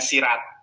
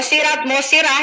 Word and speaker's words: sirah: Kalau kita berbicara tentang sirah nabawiyah, tadi Ibu bacanya sirat. Nah, ini murtadin odong-odong ini kadang karena bukan Islam, maksudnya kadal ya. Sirat nabawiyah nggak ada, Ibu. Masdarnya apa itu sirat? Oke. Mau sirah, yang penting data yang saya berikan benar.